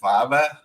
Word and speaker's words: Favre: draft, for the Falcons, they couldn't pronounce his last name. They go, and the pick number 47 pick for the Atlanta Falcons, the 6th round, they select Brett Favre. Favre. He's not Favre anymore. He's Brett Favre.